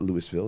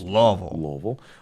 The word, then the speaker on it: Louisville: That's the way we pronounce it here. It's not Louisville. It's Louisville.